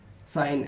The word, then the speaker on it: sign: जी साइलेंट, जी कब साइलेंट होता है, एन से पहले जी आता है तो जी को पढ़ा नहीं जाता है। जैसे लिखा है डिज़ाइन, डिज़ाइन DESIGN डिज़ाइन, RESIGN रिज़ाइन, साइन SIGN साइन। तो इसमें शर्त क्या था, एन से पहले जी आता है तो जी को पढ़ा नहीं जाता है, याद कर लीजिएगा।